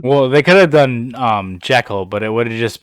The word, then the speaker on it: Jekyll: And by the way, I said Jekyll because that's how you're supposed to pronounce that name.